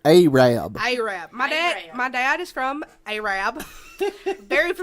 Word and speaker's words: Arab: other and it became Arab Alabama which everybody thinks is arab arab yes I work in Marshall County and they pronounce it a Rabb my dad is from